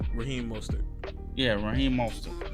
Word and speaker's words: Mostert: Let's take Monster. What's Monster? So say Mostert. What's his name? How you pronounce his name? Raheem Mostert.